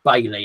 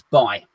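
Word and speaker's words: Bailly: I say it's Eric Bailey. I think his name's Eric Bailey, and people kind of go, no, you don't pronounce it like that. It's Bay.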